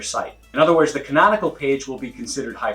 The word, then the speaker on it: canonical: That's one word, 4 syllables, canonical.